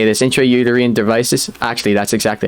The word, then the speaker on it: intrauterine: intra i don't know how to say this intrauterine devices actually that's exactly how you say it